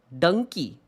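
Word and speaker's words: Dunki: d num Dum it seems Dy it's donkey pronounced dony donkey okay I guess I haven't seen the movie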